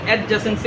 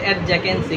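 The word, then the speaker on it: adjacency: এটাকে বলে দেখেন বইয়ে লেখা আছে এডজাসেন্সি ম্যাট্রিক্স। এটাকে কেউ ইংরেজি উচ্চারণ এডজাকেন্সি।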